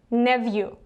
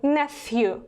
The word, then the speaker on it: nephew: Nephew, this is a British version, and if you want to pronounce it in an American way, then you need to read it as nephew. So nephew, British, nephew, American.